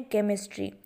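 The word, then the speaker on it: chemistry: फिर आगे है केमिस्ट्री, उसका भी उच्चारण हम क से ही करते हैं, लेकिन लिखा वह सी से जाता है।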